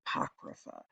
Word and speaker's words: Apocrypha: But usually like a alleged story that probably isn't true, but it's part of the apocrypha. Um, that's how it's pronounced, the apocrypha, and something that is apocryphal.